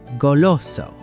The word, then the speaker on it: goloso: First up is goloso.